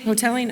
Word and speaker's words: Hotelling: Hoteling? Is that how you say it? Hoteling? Hoteling.